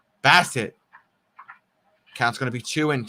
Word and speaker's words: Bassitt: pitch got away from bassette bassett i keep saying his name wrong bass it counts gonna be two and two and chris about to throw pitch number 25.